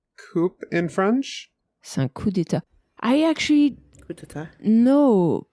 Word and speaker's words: coup d'état: And like in France, it's common to not pronounce some certain letters. In English, it's a bit less common. Yes. Yeah. No, I was just curious because, like... No, it's un coup d'état. It's not coup. Coup d'état.